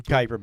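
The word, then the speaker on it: Kuiper: coer belt how do you say it C kyber belt kyber belt it could be the entire mass of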